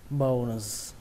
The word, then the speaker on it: bonus: Đấy các bạn đọc là bonus, bonus. Nó nghe hơi giống từ bone, tuy nhiên phân tích rõ nó ra đó là âm O và âm N.